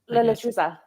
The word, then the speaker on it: La Lechuza: La Lechuza. Yeah, there you go. Say that again one more time so everybody can hear you. La Lechuza.